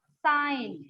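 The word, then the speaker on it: sign: डिजाइन, यहाँ पर भी जी जो है साइलेंट है। और साइन, साइन में भी जी साइलेंट।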